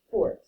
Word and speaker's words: forte: If you are a girl or you're describing a girl, you're going to pronounce this fort, like a fort with blankets you'd make in your basement.